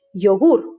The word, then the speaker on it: yogur: When it's a consonant at the beginning of the word or before a vowel, it's pronounced like yes, like the Y in English. Yogur, yogurt, yogur. But if it's acting as